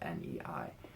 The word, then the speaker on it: 那: They used N-A instead of N-E-I. So ne is like a pronunciation that is common in Beijing.